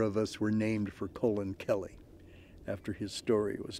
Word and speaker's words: Colin: friends know me as colin that's pronounced with a long o that's how my mother